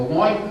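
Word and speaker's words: LOINC: And the line codes, which are used on the lab tests, and why rhymes with oink, just like a pig, creates a bucket, a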